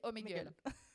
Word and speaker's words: Omegle: voilà et juste les gars comment ça se prononce Omegle Omegle ok Google mais c'est Omegle ok alors ça cartonne streamer le plus suivi